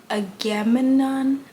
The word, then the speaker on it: Agamemnon: Agamemnon, the one that Achilles didn't like in the